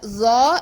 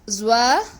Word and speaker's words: ظ: Do not pronounce the letter Za as Zwa, Lwa or Law.